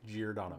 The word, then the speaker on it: Giordano: Yeah, Giordano.